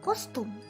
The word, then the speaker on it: kostum: It's very easy to say costume in Bahasa Indonesia because it's a loan word. It's kostum. You see, for a hard C in Bahasa Indonesia turns into a K.